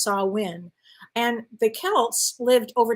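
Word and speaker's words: Samhain: Celtic Festival called called saw win if I'm pronouncing it incorrectly let me know it's spelled s-a-m-h-a-i-n but it's pronounced saw win and the Celts lived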